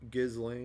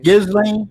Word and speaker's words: Ghislaine: Chris Ghislaine, Lane? Ghislaine, Ghislaine? Ghislaine.